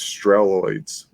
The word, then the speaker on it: Strelloids: It's like steroids, but it's Strelloids.